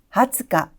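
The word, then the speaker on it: 二十日: 20일은 하츠카, 하츠카. 2일은 후츠카, 후츠카라고 발음이 되고 있네요.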